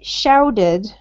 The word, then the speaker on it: shouted: pronunciation is we change the T to a D sound if it's in the middle of the word.